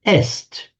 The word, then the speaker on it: est: with the Latin word est is and in modern French written written the same but pronounced e he she it is